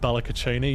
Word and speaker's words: Balacachini: Balacaccini is pronounced Balacaccini. Yes, correct.